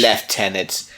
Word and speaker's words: lieutenant: each of my lieutenants because that's how he pronounce pronounces lieutenants cuz he's British left tenants my